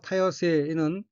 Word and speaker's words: 多様性: 첫째 줄 오른편 어휘는 한자가 한국어로 다양성이고 마늘따, 모양량, 성품성자로 되어 있고 일본어로는 타요세라고 읽으며 타요세는 다양성이란 뜻입니다.